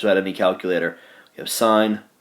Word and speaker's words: sine: Sine's abbreviation sin, looks like sin, it's still pronounced sine.